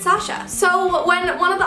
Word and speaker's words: Sasha: fine but usually I'm pretty clear about the pronunciation I say Sasha and then whenever they ask my name I say it's Sasha so when one of the authors SP my